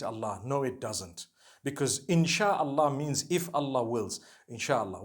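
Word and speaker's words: إن شاء الله: No one says Insha'Allah. They say Insha'Allah. That's what it is.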